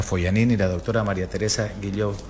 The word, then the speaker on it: Guillaux: la doctora María Teresa Guilló. ¿Así se pronuncia? Sí, Guilló, exacto.